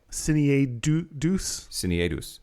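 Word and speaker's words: cinaedus: There's Cineatus, which is a derogatory word denoting a male who was gender deviant. Cineatus? Cineadus.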